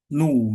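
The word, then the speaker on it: ν: Kalau tidak salah ini bahasa ininya nu gitu disebutnya nu kalau nggak salah ya. Ini tuh nu ya disebutnya. Walaupun kayak huruf P gitu kan, tapi kalau tidak salah ini dibacanya nu gitu ya.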